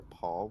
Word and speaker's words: Pol: My name's Paul. Yes. Paul. Oh. P-O-L. Yeah, pole as in like a street pole.